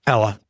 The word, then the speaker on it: Pella: How do they pronounce it? Pella.